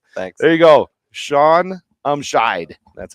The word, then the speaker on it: Umscheid: Shaun Umscheid. That's how you pronounce it.